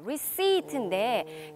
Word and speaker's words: receipt: 라고 도민이 대답을 하고 있는데 한 가지 주의하실 점은 영수증이라는 뜻의 단어가 receipt인데 이 단어의 속에 보면 P가 들어가 있지만 소리가 나지 않는 묵음이에요. 그래서 receipt가 아니라 receipt. 이렇게 발음이 된다는 점도 알아두시면 좋을 것 같습니다.